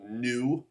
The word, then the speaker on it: nu: It's a nu, that's how you pronounce that.